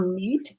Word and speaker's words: meat: Watch out for meat and great and threat. So again, they all look the same. Watch out for meat and great and threat. They rhyme with sweet and straight and debt.